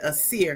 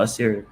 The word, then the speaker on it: Assir: I said ass. But I heard you say assur. No, Assir. As a Okay.